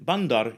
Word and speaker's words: bandar: Notice that the final R is silent in many Malay accents, including the mainstream Johor, Riau, Selangor Malay.